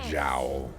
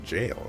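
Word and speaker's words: gaol: for a long time I used to pronounce it as Jou because you know why would it be pronounced jail that makes no sense I move forward in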